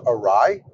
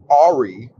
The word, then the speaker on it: awry: How to pronounce awry?